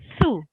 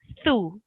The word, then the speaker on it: ث: Okay, so the th sound is a very soft sound, and it's pronounced like this. Thu.